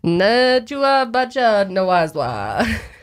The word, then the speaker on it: Nebuchadnezzar: It goes back to the Book of Daniel, King Nebuchadnezzar. I have no idea how to say his name. Say that again. Nebuchadnezzar.